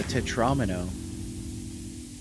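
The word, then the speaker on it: tetromino: I also want to just point out that according to this etymology here, Tetra 4 and Domino, so Tetramino is the correct pronunciation.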